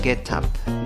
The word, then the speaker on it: get up: Algunos podrían pronunciarlo get up, get up. No hay problema. Escucharás que es común decir get up. Pronunciar la T de la primera palabra como si fuera una R.